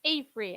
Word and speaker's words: AFRY: of sustainability on in is it free or off three or how do you pronounce it it's a free actually april indeed it's april